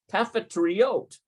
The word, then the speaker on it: קפיטריות: I'd like to know how you pronounce the multiples here. Yeah, there it is. קפיטריות, Cafeteriot.